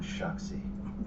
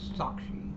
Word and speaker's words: sākṣī: The witness must therefore become sakshi, the Sanskrit word meaning witness. Again, he mispronounced it. The phrase The word is sakshi.